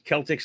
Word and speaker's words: Celtic: It says Celtics like me don't have it. Yes, I think I said it right. C with a hard K sound on it, not like the ball team.